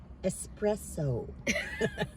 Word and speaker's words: espresso: Espresso. Espresso. Am I saying it right? Don't just say what you were saying. Espresso. There's no X there.